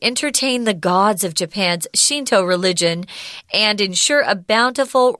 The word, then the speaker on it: Shinto: there shun del but pronounced Shinto in Japanese at least the way the Americans would say it yeah and so it